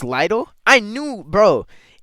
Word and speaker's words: Lidl: Am I pronouncing it correctly, too? People say it's little, but I'm not going to call it little.